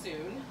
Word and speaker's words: Sun: called the soon form it's spelled like sun but pronounced soon soon and we'll do that